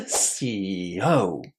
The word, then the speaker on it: CEO: as a separate syllable, we put the stress on the last syllable, always. So this one is a CEO.